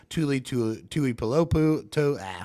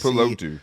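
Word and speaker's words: Tuli Tuipulotu: Ojolari, Tuli Pulopu. I know I messed that up. I'm so sorry. Tuli was available there from USC. Tuli Pulotu, yeah.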